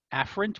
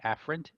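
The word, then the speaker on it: afferent: of the two eent afren with an A and Efren with an E so a a a afren Efren e again they're not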